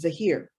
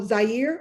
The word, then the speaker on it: Zahir: nephew, who is 5, his name is Zahir, Zahir, Arabic, right? Many people are like, oh, how do you pronounce it? Oh, Zaire.